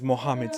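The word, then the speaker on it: Muhammad: alla preghiera islamica: l'Adhan Ascoltate quanto bene pronuncia il nome di Mohammed Mohaddam Cosa?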